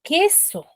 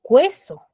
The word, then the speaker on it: queso: Porque yo al momento de pronunciar, yo digo queso. Yo no digo cueso.